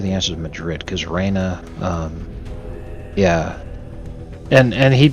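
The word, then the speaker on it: Rainha: it was spelled uh queen in Portuguese is also Raina it sounds exactly the same but it's spelled r a i n ha okay so Norm walked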